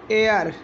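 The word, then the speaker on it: air: अगर ए आई आर आ रहा हो तो उसमें जो ए आई होगा उसका उच्चारण क्या होगा, ए। एग्जाम्पल, ए आई आर, ए क्या हो जाएगा, एयर।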